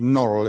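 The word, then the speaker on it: Norwell: Herring curate of norel that's spelled nor well but pronounced Norrell if you're up that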